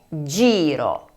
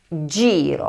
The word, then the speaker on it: giro: La forma correcta es GIRO, GIRO (vuelta).